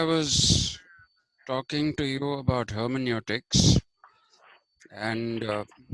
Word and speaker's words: hermeneutics: other day I was talking to you about hermeneutics and uh h e r m n u t i CS hermeneutics which I told you is a Greek word